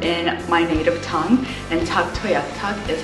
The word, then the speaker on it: Tuktoyaktuk: t is T toak Tu and du toak duk toak is how we pronounce it in my native tongue and Tu toak is how you pronounce it in the local